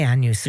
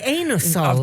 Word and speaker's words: Anusol: Let's call it Anusol. I always say Anusol. Yeah, because you can read it. But some people say Anusol.